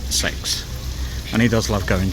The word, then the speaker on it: CeX: to Mark's favorite shop CeX or as it's properly pronounced sex and he does love